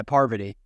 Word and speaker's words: Parvati: Yeah, Parvati.